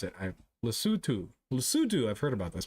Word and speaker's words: Lesotho: How do you pronounce it? Lesotho.